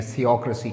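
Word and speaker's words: theocracy: एक धार्मिक शासन को इंग्लिश में थियोक्रेसी कहते हैं। Remember TH sound, थियोक्रेसी, नॉट थियोक्रेसी, this is थियोक्रेसी।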